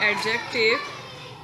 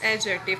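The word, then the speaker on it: adjective: third part of speech एडजेक्टिव which we pronounce एडजेक्टिव नॉट एडजेक्टिव when we write then we mention D but when we pronounce it D silence a definition our that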